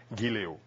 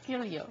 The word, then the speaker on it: giliw: It was fun, actually, because there were certain things that they could never pronounce. Like what? Giliw. Can you say that? IW. No. Just try. Gilio.